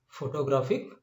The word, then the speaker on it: photographic: And see here, graph is accentuated and not the rest of the three ones.